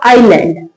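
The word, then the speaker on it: island: आइलैंड।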